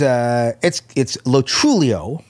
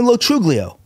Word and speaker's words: Lo Truglio: It's Lo Truglio. Lo Truglio. Lo Truglio. Lo Truglio. Right. However, I found that out late in life, around 22, my grandfather told me that's how it's pronounced. Now, up until that point, most of my friends, including most of the people in the state, call me Lo Truglio. Mm. That's also okay.